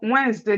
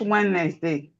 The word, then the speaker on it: Wednesday: Wednesday, No, Wednesday. The D is silent. Wednesday, not Wednesday.